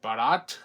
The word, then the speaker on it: Barat: So here we have audio commentary with writer-director Adam Green, cinematographer Will Barat. That is how you pronounce his last name, but it's actors Tamara Feldman, Joel David Moore, and Dion Richmond.